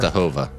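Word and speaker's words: Częstochowa: Jeremy, because Oh, we're It's pronounced moving north. Chestahova. Yeah, Chestahova?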